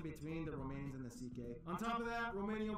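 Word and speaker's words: Székely: all went down then we get to the ck people the second most populous minority yes that's how you pronounce it basically cousins of the hungarians these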